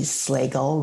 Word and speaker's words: Slagle: Hello, Slagle, rhymes with bagel.